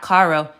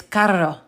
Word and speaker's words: carro: R's, but in Spanish, it's not caro, it's carro. Carro. Because if you don't roll your R's, you'll end up saying caro, okay? Which is two different things.